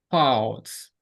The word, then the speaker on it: falls: Falls. Okay. Try to remember it. A L. It's not O. It's a like walk, talk, fall, walk, walk.